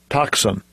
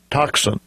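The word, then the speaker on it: τόξον: Strong's g51 15 and here is the correct pronunciation of that Strong's g51 15 toxin toxin so we have toxin sounds like something that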